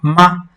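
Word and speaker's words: 吗: It doesn't have any tone. That's why, there's no special tone while we're pronouncing. This ma. Just say ma and you're good to go.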